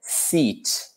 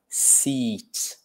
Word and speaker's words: seat: So this, if we're talking about the noun, we say, yeah, seat. Almost like with a smile, seat.